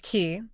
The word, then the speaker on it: Key: she came of age Elizabeth key pronounced K was born in colonial